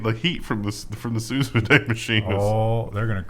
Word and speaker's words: sous vide: Yeah, I didn't say that right. Sous vide. Sous vide. I thought it was vide too. It should be vide, right? It's so much better.